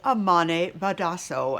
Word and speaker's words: Amane Badhasso: us right now is amane badasso and i hope miss badasso that i am pronouncing your name correctly you are pronouncing it correctly thank you very much